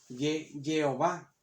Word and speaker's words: Jehová: A juntar las vocales de Adonai con las consonantes de Yahvé, pues la pronunciación que da es esta, es Jehová, que a nosotros lo pronunciamos como Jehová.